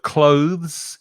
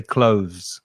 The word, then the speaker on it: clothes: don't forget don't forget the pronunciation of clothes it's just one syllable and if you want